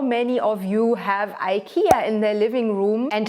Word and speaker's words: IKEA: By the way, we pronounce IKEA IKEA.